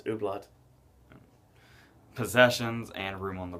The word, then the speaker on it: Hublot: Ooblat. I'm going to guess that T is silent. I thought it's Ooblat.